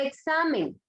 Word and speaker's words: examen: ¿Dónde lleva la fuerza de voz la palabra examen? A ver. ¿Cómo dijo? ¿Dónde lleva la fuerza de voz la palabra examen? En sa.